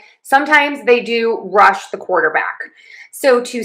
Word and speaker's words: quarterback: Let's try this with quarterback.